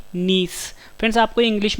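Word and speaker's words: gneiss: है A option D नीस friends आपको English में वर्ड याद रखना है इसकी स्पेलिंग है जी अपनी आई डबल एस मुझे साइलेंट एंड नीस जो है जब ग्रेफाइट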